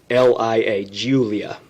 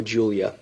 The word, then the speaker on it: Giulia: a 2016 or newer alpha romeo giuliana and that's spelled g-i-u-l-i-a julia sorry g-i-u-l-i-a alfa romeo julia silver in color the vehicle appears to have